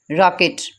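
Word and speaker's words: rocket: आर की just एक ही sound है, रा, रॉकेट, रा। इसमें मैंने पीछे भी बताया था आपको कि ओ की आवाज़ उनसे वो आ करके निकलती है। इसमें हम देखें इसे ओ नहीं पढ़ेंगे, इसमें आ पढ़ेंगे, रॉकेट।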